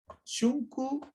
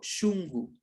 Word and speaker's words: shunku: Aquí fíjese cómo la K suena como la G de gato. Y es el corazón, ¿no es cierto? ¿Ya? Shunku o shungu.